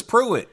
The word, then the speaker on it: puit: TV show I think puit just rhymes with do it so he just made